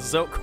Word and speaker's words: Zealk: Right, so for confusion's sake as well, the way you pronounce this, at least the way that I like to have it pronounced, is Elk with a Z, so Zealk.